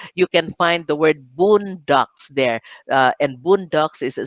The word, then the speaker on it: bundok: filipino word the word boondocks uh take note of how i pronounced it it's actually our filipino boon doc b-u-n-d-o-k boondock but in the dictionary